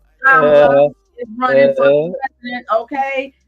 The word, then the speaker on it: Kamala: Say her name right, Kama, with the lie. Kamala is running for president, okay?